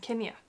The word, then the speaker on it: Kenia: Kenia.